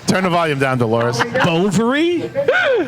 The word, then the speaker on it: Bovary: Bovary? Rhymes with a female body part.